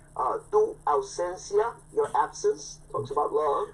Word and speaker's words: Tu Ausencia: Let's talk about what you said, Tu Ausencia? Yes. Say that again so I can get the pronunciation.